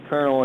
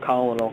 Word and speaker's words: colonel: how they pronounce it colonel it's not colonal it's Colonel I think so I'm